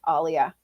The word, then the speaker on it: Alia: say one more thing the only people who really really know how to pronounce my name correctly are Latinos because in Spanish finish the vowels never change and the vowels of my name happen to match the vowels of the how Latinos say their alphabet so there